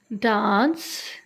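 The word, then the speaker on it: dance: डांस. सी के बाद आई आ जाए तो that is called a soft सी. ठीक है, इसे सी ही प्रोनाउंस करेंगे.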